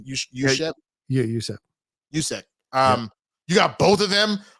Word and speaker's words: Juszczyk: Yeah, Juszczyk.